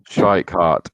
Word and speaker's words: Schweikart: How do you say it? Schweikart, I think. Schweikart, yes. Stephen Schweikart in the M2 class on 46 points, and Dan Harborough on 46 as well.